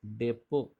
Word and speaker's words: depot: Depot, see the spelling, DEPOT. T is silent here.